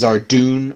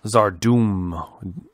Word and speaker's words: Zarduum: It's Zardoon or Zardoom? Zardoum. D-U-U-M. Doom.